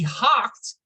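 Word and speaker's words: houghed: He hocked, I had to look that up. O-U-G-H is pronounced so many different ways, you're never sure.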